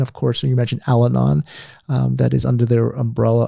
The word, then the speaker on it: Al-Anon: Al-Anon.